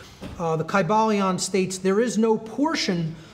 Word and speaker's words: Kybalion: y sounds you know it would have been a long I sound Kai Bal Leon and every syllable would